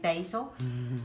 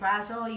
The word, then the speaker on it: basil: sorry the required basil or should I say basil as the Americans say we Brits say Brazel you say basil right there so here